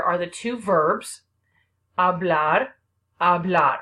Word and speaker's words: habla: the two verbs blood habla remember that H is silent H is at the